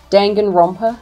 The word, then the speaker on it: Danganronpa: So there's a new detective game coming out by the creators of Danganronpa. Am I pronouncing that right? Danganronpa. Danganronpa.